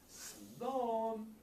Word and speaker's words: Slán: Slán. Salon. Slán.